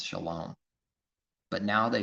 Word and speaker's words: shalom: If someone says shalom and pronounces it that way, which happens to line up with his word for the Hebrew word pronunciation with the letters and the vowel points, shalom.